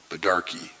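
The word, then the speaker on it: baidarka: a badarkey he said he pronounced it badarkey that's how my people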